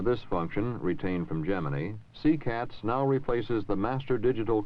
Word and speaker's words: CCATS: We should also look for a moment at the Communications, Command, and Telemetry System, abbreviated phonetically to CCATS.